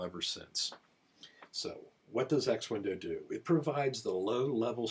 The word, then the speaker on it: X Window: Well, we do this through a layer software known as X window. By the way, it's it's very common for people to mispronounce it as X-winds plural, but the proper name of this is X-wind.